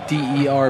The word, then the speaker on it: Derby: But it's spelled D-E-R-B-Y. That doesn't matter. This is England. It's Derby.